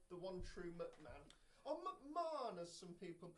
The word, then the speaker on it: McMahon: important, was that moment where the catatonic Linda McMahon stood up out of her wheelchair and showed that she was the main McMahon.